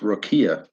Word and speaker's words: rakia: questions which is okay you know rakia is pronounced Rokia so I was that's the third thing I'm